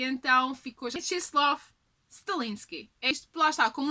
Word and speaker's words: Mieczysław: Jeff Davis acabou por revelar à Entertainment Weekly também de pronunciar, e por isso mesmo ficou Mieczysław. I have a son. His name is Mieczysław Stalinski.